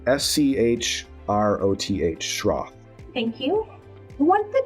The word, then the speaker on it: Schroth: So it's called Schroth Physical Therapy, and let me just verify that I spell it correctly. Schroth, Schroth.